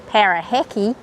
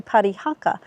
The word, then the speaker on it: Parihaka: You see, over time the name got twisted, mispronounced, and turned into Parahhacki, which ended up on most of the European maps. The push to change the name back to Parihaka began in 1937 when